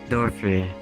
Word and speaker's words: Dorfyr: Is that how do you pronounce it properly? Yeah, Dorfyr.